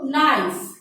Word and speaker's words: knife: ছুরি, ছুরি অর্থ নাইফ, ইংলিশ অর্থ হচ্ছে নাইফ, KNIFE, নাইফ। এখানে তোমরা খেয়াল করো, KNIFE, এখানে কে এর উচ্চারণটা আমাদের উচ্চ থাকে, উচ্চারণটা হয় না। আমরা কে উচ্চারণটা না করে আমরা নাইফ বলি, কিন্তু বানানটা লেখার সময় আমরা অবশ্যই কে লিখবো।